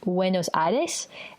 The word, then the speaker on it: Buenos Aires: Buenos Aires is actually pronounced Buenos Aires, and it's in Argentina.